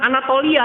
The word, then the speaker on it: Anatolia: disebut dengan Anatolia, ya, bukan Anatolia, ya dibacanya bukan gitu Pak. Kan T-O-L-I-A kan ya, Anatolia itu gitu nulisnya Pak ya. Jadi dibacanya disambungkan, bukan dipisah.